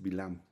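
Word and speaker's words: בלעם: El nombre hebreo es Bilam.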